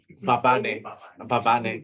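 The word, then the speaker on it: Mbabane: I'm probably butchering the pronunciation. My name. No. The one of your capitals. Babane, yes.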